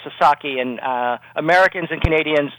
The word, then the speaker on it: Sasaki: And uh Joshu Sasaki and I should uh make it clear it's it's pronounced Sasaki and uh Americans and Canadians uh sometimes have trouble with Japanese names and it's very understandable.